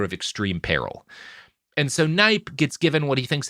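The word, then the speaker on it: Kneipp: look into this guy, his name is spelled Kneip. So, just Knipe.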